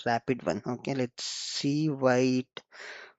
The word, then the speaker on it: RPT-1: So this RP is nothing but relational pre-trained uh transformer which SAP pronounces it as a rapid one.